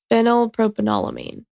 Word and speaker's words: phenylpropanolamine: But Mark even put the pronunciation. I'm still going to fuck it up. I'm positive. Phenylpropanolamine.